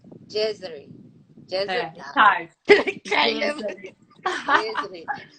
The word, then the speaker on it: Gezary: Gezary. Gezary. Gezary. Hard. Kind of. Gezary. Gezary. But like, I love G and I love Gezary. Like, if somebody asks my name now, I say Gezary.